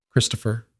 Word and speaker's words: Christopher: "Christopher," she said quietly. "The H is silent. You don't hear it. You just have to know it's there.